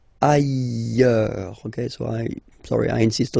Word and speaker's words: ailleurs: Look, final S not pronounced, and then you've got this y sound. Ailleurs. Okay, so I insist a little bit too much maybe, but still, let's read it normally now. Ailleurs, ailleurs.